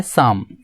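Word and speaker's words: psalm: सुनो निशान होता है शाम शाम की स्पेलिंग क्या होती है कि एस ए पहले नेम यहां पर पीठ और के होते हैं साइलेंट होते हैं शाम का मतलब होता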